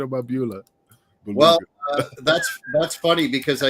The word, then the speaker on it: Beulah: Belula. I could never pronounce it correctly, but Beulah. Dreamer, what? Say it. Beulah McGillicuddy. Belua. It's not beluga caviar.